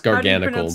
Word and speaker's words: Garganacl: Oh yeah, it's Garganacl because it's gargantuan plus the salt chemical formula.